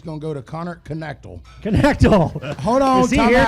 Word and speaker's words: Knechtel: to go to Connor Knechtel. Hold on. Is he here tonight? Where's he at? Is he here? Time out. I said that wrong. You said it wrong? It's Knechtel.